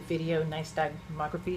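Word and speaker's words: videonystagmography: So the the video niceography, is that how you say it? Correct. Video nice.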